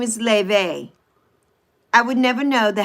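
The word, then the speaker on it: Laufey: Just like if you all listen to the beautiful um Le, but it's spelled low, right? L A U F E Y. Her name is Ley.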